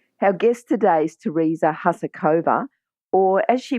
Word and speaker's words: Husakova: Now, I know that a lot of Australians call it Husakova, but how do you say it? You say it Husakova, which is the Czech pronunciation.